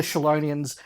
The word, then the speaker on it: Chelonian: story purposes is the Chelonians. Yes. And they are, of course, the giant... Now, Dave, I should pull you up. Chelonian. We've had a lot of different pronunciations of that on a recent podcast.